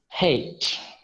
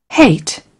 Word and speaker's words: hate: ওই যে মাঝখানে যে ই আছে, এই আছে, এটাই কিন্তু আমাদের উচ্চারণ সঠিক হয়ে গেল, হেইট। আমরা বলি হেট, আই হেট ইউ, আই হেট ইউ, হেট হেট হেট। এটা মাঝখানে ই দিলেই সঠিক, হেইট, হেইট।